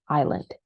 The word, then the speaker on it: island: up a lot and they say Iceland or Island stuff like that but remember that it is Island right okay um then